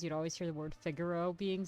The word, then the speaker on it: Figaro: was a kid was figaro see i say figaro that's what i used to say